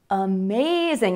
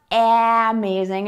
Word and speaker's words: amazing: It's not amazing, it's amazing, amazing, amazing. So many words that have more than one syllable in English have a stressed syllable, and then either before or after the stressed syllable, you will hear the schwa sound.